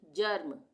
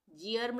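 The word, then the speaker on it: germ: तो यहां पे हम इसका उच्चारण क्या करेंगे? अ का यानी जर्म। जी आर्म नहीं पढ़ेंगे इसको हम।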